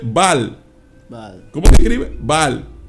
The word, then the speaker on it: Baal: Ball, pero se escribe Baal.